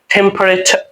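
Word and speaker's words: temperature: টেম্পারেচার, এখানে চার বলা যাবে না, এখানে বলতে হবে কি? টেম্পারেচার।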